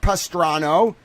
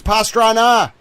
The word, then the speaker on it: Pastrana: It's not Pastrano, you moron. It's Pastrana.